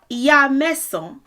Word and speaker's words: Ìyaàsán: Ìyaàsán is how you say it now. The contraction of that is Iyansan.